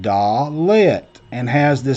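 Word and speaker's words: דלת: letter the hebrew alphabet is called the dalet pronounced da lit and has the sound of d as in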